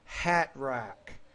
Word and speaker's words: hat rack: For example, the word hat rack. We don't really pronounce the T in there, or the word brightening or important.